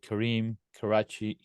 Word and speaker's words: Karim Kerachni: We've been talking with Karim Kerachni. Am I saying it right? That's right.